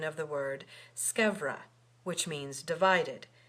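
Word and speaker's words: scevra: to tell you that the pronunciation of that word scra with a V and not skura with a u because it is a contraction of scava it remains to be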